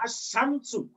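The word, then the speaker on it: الشمس: এখানে দেখেন শিনের উপর এই যে এটা আছে, এই সাদ্দা আছে, তাহলে উচ্চারণ হলো আশা, দুইবার করে আশ-শামসু।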